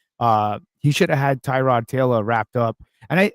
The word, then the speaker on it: Tyrod: playing, they really were questioning about how to pronounce his name, it's been Tyrod, and they were saying that people were calling him a different name.